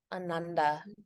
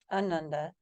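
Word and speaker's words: Ānanda: aand is bliss oh if we were to take that line away it would mean the opposite of what that is so not Bliss if you said anund you're saying no Bliss no Bliss for you exactly right so it'sand it's Anand Anand Anand Bliss Anand no Bliss so you have the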